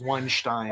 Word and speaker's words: Weinstein: filthy like a filthy weinstein uh the correct pronunciation is weinstein oh sorry anyway um so this pretty much